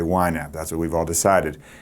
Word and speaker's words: YNAB: how you say it you don't say you naab or YNAB you just say why nap that's what we've all